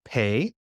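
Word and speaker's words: פ: know it don't you it's pay and when it has a dot in it it's a like a pie but when it doesn't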